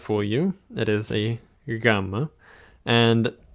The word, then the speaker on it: gamma: And it's not quite pronounced the same as a G, like in go. It's a bit softer and a bit, I guess, slower to be pronounced. So think of go versus ginome. It comes out slower.